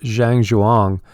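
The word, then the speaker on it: Zhan zhuang: standing meditation and it's it's called zhang xuan but it's spelled like zhe ang and then the CH you ang and it's powerful because it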